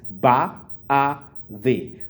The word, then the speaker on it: baadhi: Baadhi. So the last one is the. It's not z. It's not d. It's the.